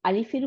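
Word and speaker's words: ال: হ্যাঁ, তাহলে আমাদের দেশের লেখায় এই হামজাতুল ওয়াসালের উপরে জবর দিলাম, তাহলে আ হয়ে গেল উচ্চারণ, আর লাম হয়ে গেল সুকুন। লাম সবসময় সুকুন নিয়েই থাকতেছে, তাই না? তাহলে আল উচ্চারণ হয়ে গেল।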